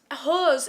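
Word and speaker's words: Heaux: But These Hoes, her first song, again, spelt weird. Hose is spelt H-E-A-U-X.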